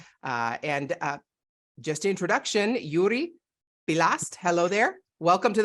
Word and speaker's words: Joeri: listening you don't understand his name is spelled very different especially the Yuri uh is spelled very different from uh from the way it sounds so I'm really really